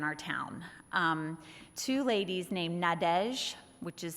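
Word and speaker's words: Nadège: right there in our town two ladies named nadesh which is spelled n-a-d-e-g-e in case anyone wondered and Annabelle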